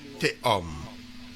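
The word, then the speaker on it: תהום: Le tav avec Le tav. le cheval en dessous, ça prononce et. On est d'accord? Mhm. Après, tu as le o. Le vav avec le point. O. Et puis le même à la fin, homme. Voilà. Homme. Ouais, comme l'homme.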